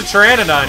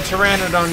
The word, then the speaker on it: Pteranodon: can't you hear a Pteranodon use the bathroom second objective because the p is silent you're getting pretty good